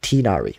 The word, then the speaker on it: Tignari: Yeah, and then Tignari's voice actor is like why he pronounced it like Tinari, right?